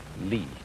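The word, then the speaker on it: 理: fiber in muscle and it's pronounced lee this is a character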